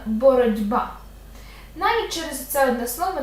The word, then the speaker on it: боротьба: з кінця боротьба - це знову асиміляція за дзвінкістю Т перед б дзвінким буде одзвінчуватися і звучатиме боротьба Навіть через оце одне